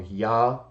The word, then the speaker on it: Yah: and seacus Aquila origin say the Divine name was pronounced either yah o or yah so it's not just